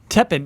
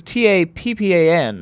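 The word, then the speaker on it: Tappan: Teppan means top. This is T-A-P-P-A-N, so it's spelled differently. Oh, okay. Teppan. Like if you were to tap a pan.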